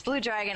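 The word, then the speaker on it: BLUDRGN: I had a little bit of a problem trying to figure out how to pronounce that name because it's actually B-L-U-D-R-G-N. So I was like, is it Blood Rain or something?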